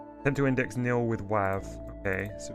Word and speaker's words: WAV: Maybe I need to call it .wav. Nope. Tend to index nil with WAV.